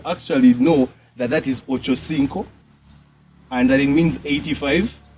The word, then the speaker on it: Ochocinco: um Eric Muller's nickname is the way people pronounce it just bothers me I hear people saying Ocho chinto like what like do people I'm sorry for even classic but do people actually know that that is Ochocinco and that it means 85 people ever do